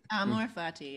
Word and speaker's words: Amor Fati: Amor Fati, did I say it right? Amor Fati, yes.